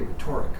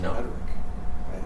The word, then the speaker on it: rhetoric: class for the whole semester, they they still mispronounce it. They say rhetoric. Yeah. I took your class rhetoric. And I'm like, no, it's it's pronounced rhetoric.